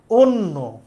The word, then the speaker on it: অন্য: না আমরা বলি কি অন্য তার মানে এটার উচ্চারণ হবে যেহেতু নর সাথে জফলা আছে তাহলে ন দুইটা হবে এর উচ্চারণ হবে অন্য এটা হবে এইযে এরখানে